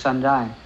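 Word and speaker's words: 山寨: There is a Chinese word for the made in China is in the Chinese pronunciation is shanzhai.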